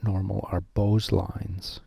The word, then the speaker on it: Beau's: is not normal are bose lines kind of a weird way to pronounce that bose lines like the headphones bose headphones so these are not